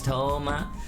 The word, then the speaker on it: Touma: Everyone, my name is Toma.